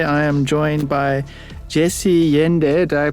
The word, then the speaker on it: Yende: Today I am joined by Jesse Yende. Did I pronounce that correctly?